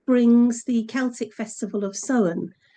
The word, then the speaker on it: Samhain: And I used to say Samhain, and people would Mhm. look at me blankly as if to say, "What are you talking about, Sam?" Samhain.